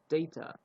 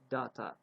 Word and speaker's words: data: about this word is this word has got two ways of pronouncing. The first one, most people say data, and the second one is data. You can pronounce both of them. The both of pronunciations are correct.